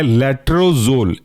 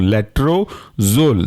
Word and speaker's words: लेट्रोजोल: और उसके अंदर का एग्जांपल है लेट्रोजोल, स्पेलिंग है LETRO, लेट्रोजोल ZOLE, साथ में पढ़ सकते हैं इसे हम लेट्रोजोल।